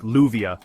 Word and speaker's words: lluvia: Argentine Spanish, also known as Rio Platense, stands out immediately thanks to its distinctive sh sound, especially in words like lluvia or cale.